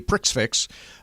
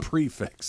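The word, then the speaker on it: prix fixe: and we went to a Pricks fix um which you know is where all the courses are laid out prefix oh prefix sorry well it's spelled prick fix I understand how it's spelled um so anyway we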